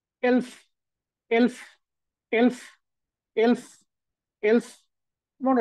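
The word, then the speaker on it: elf: মানে হচ্ছে 11 হ্যাঁ 11 কে তারা বলেছে এলফ এলফ এলফ এলফ এলফ এলফ মনে রাখতে হবে এটাকে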